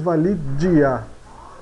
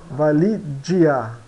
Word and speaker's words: valigia: som de x piscina o g ele soa como um um DG né John joh de da